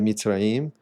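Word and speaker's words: Mizraim: conta dos gregos, mas que a pronúncia era Mitraim e ele era um e ele foi um dos filhos do Noé.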